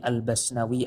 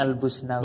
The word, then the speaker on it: Al-Busnawi: Pada keterangan di atas jelas sekali bahwa Imam Kamaluddin Al-Bayadhi Al-Basnawi Al-Hanafi, itu bacanya benar ya? Al-Basnawi apa Al-Busni? oh ini karena Bosnia. Iya, karena Bosnia. Albus. Harusnya Al-Busnawi. Busnawi harusnya ya.